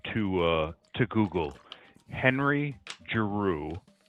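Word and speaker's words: Giroux: Henry Jaru. G I O U R O U X. Oh, I can't spell it.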